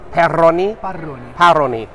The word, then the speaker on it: Parroni: Parroni.